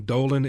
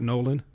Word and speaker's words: Nolan: He called him Dolan and not Nolan.